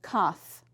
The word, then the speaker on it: cough: Now remember, F is not a digraph because that's just a single letter, but PH as well as GH at the end of a word says f, like in cough.